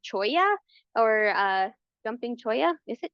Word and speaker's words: cholla: And then this is, I always forget if it's pronounced cholla or jumping cholla.